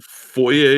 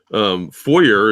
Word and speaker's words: foyer: Foyer is how it's pronounced in French, but yeah, foyer is how we pronounce it in American English.